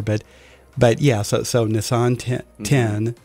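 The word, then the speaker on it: Nisan: the show here but but yeah so so nissan ten it's actually pronounced nissan i'm still training myself to say it right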